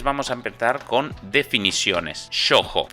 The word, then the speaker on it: shōjo: a empezar con definiciones sojo que es así que se escribe y se produce a su ojo con una o larga cuando hablamos de géneros